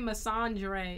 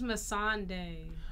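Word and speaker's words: Melisandre: name wrong was it you keep saying masandre it's Mason day I'm not saying him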